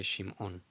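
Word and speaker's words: שמעון: Shimon. Shimon. Of course, you could just say Shimon, Shimon, Shimon, but out of respect for the ayin, I choose to say Shimon, Shimon.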